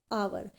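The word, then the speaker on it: hour: Beginning with silent letter, जब silent letter की बात की जाए, बिगिनिंग हो उससे, इन दैट कंडीशन भी क्या हम क्या करेंगे, आवर। यहाँ पर साउंड किसकी है, एच, यहाँ पर वर्ड क्या है, एच है, स्टार्टिंग का बिगिनिंग का वर्ड एच है, जो हमारा क्या है, साइलेंस है, बट यहाँ पर हमने प्रोनाउंस क्या किया है, आवर, तो आवर यहाँ पर हमारा आ की साउंड दे रहा है, that is वाई वी use article an.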